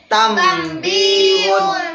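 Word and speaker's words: تَنْبِيهٌ: Berarti huruf nun sukun bertemu dengan ba. Dibacanya tambihun. Membaliknya menjadi mim. Di sini biasa dalam Al-Qur'an ada mim kecil.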